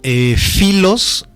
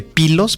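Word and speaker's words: Phylos: Me gustaría sugerirles una bibliografía que se llama Filos, o se escribe Pilos, PH con Y, Pilos o Filos, el tibetano.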